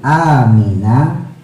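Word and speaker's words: آمين: Maksudnya qaulu amina, mengucap ucapan lafaz amin. Hanya panjang ya, minnya panjang, matahari disukun. Akibal fatihati, setelah membaca surah al-fatihah.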